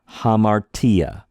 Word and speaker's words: hamartia: Say hamartia. Tia, right? Bam! Hit the T when you say it.